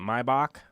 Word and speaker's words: Maybach: Maybach.